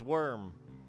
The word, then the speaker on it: Wyrm: I want to say it's Worm. This spelled, pronounced a little differently than the Earth Crawlers.